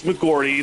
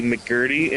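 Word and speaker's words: McGee: which makes no sense wait is it is it not mcgi it's mcgi that's how you pronounce it but I've had people say mcguy and mcgr and mcti I kind of understand but mcgr makes no sense cu the r is on the other side of the O's also just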